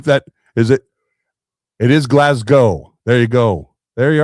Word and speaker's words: Glasgow: It is Glasgow. There you go. There you are. All right. Yep. Thanks, Marco. Glasgow. Well, pronunciation guides to be provided by.